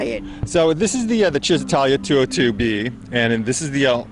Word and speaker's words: Cisitalia: the owner of the Cistalia. Is that how we pronounce it? Well, I'll give you credit. It's Cisitalia. Cisitalia. It's more Italian.